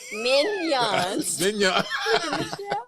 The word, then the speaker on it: Mignonnes: Spell that slowly. Okay. People been drinking. They looking at the show. Okay. Minnow, right? Mignons.